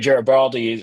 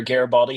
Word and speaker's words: Garibaldi: Right, Garibaldi or Garibaldi, how do you pronounce that?